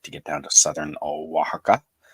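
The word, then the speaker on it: Oaxaca: get down to Southern waka waka spelled with an o x um on the Pacific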